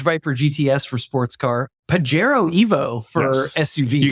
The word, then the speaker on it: Pajero: Pajero Evo for Yes. SUV. You guys So debated pronunciation of that. I am on the silent J tip. You're a Pajero.